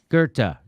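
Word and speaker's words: Goethe: did on the show you quoted gerta uh can you spell it g-o-g-e-o-t-h-a i think i think that's it something like that g-o-e-t-h-e gurta very good very good very good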